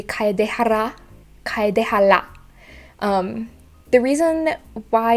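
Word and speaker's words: Kaedehara: will struggle with that what i think of it is um is like a start of a rolling r you know in spanish so it would be kaidehara the reason why it's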